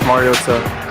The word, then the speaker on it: Mariota: That is different than what we call him all the time. We call him Marcus Mariota with a tea that barely is there. It's the smallest tea in the history of the world.